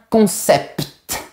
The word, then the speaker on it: concept: Mais pour certains mots techniques, j'ai bien réfléchi et j'ai trouvé pertinent de garder la prononciation du t. Par exemple, on dira un concept et un impact.